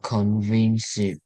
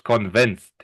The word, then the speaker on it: convinced: When this is not convinced, it's convinced. Convinced, Convinced. But the D at convinced, the end, you pronounce more like a T.